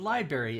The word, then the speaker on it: library: Yeah, the library. It's LIB'*ARY, library. It's pronounced library.